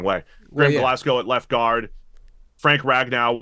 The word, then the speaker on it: Glasgow: No, it's called Glasgow.